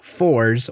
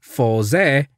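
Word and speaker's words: Faiz: seem 4z and geopronunciations some bring up how khan writer 4z and g are pronounced such as 4z sometimes being said as fors or forza plus jio incorrectly being said as zeo you could see these pronunciations through romanji but their katakana you know how it's written in japanese say fosei and jiyou respectively maybe you could get away with four zee and zeo in english since that's how they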